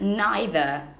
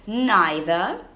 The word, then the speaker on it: neither: Either or either, and you can say neither or neither.